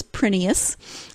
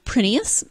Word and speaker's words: Prineas: recording of the author herself saying how to pronounce her name and she says it is prettiest it is Greek and actually in Greece they